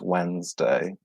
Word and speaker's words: Wednesday: careful with this one the pronunciation is very different to the spelling so it's spelled wedding as day but it's pronounced Wednesday and she's day is